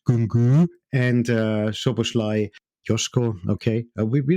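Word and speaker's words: Nkunku: not really talking about Kunku, that's the right pronunciation in Sächsisch, Kunku, and Szoboszlai, Joshko, okay.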